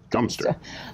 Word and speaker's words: Godmanchester: that's spelled god manchester it's variously answered with god manchester or dumpster but then it just